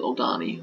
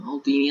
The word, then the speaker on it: Aldini: We'll get some more water with old Aldani. Aldini, I keep saying his name wrong.